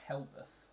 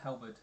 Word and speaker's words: halberd: It was a Helbeth. A Helbeth? Or I'm probably What pronouncing is- it wrong. Halbert? Halberd, yeah. Halbert.